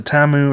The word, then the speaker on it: Tamu: saying it wrong because a lot of times in Japanese, U's are very short, almost silent sounds, so it's more like Murata Tam.